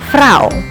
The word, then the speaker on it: vrouw: Ou, pronunced "au" like in the word "vrouw".